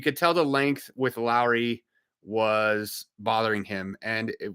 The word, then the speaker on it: Lauri: now Laurie Markington I I gotta start saying his name Lowry because that's how you say it uh not Laurie uh so Lowry you